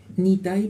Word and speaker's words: Nitay: Las compañeras Gabriela Borba y Lucía Álvarez se fueron y ahora tenemos acá Nitay o Nitay, ¿cómo se pronuncia? Nitay, porque al final Nitay, es Y. Exacto.